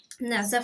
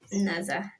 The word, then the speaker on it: Naza: A lot of people mispronounce this Naza. Like not only outside countries, like even the ones in Nigeria from different tribes, they pronounce it just badly. But you just have to correct them with a smile, Naza.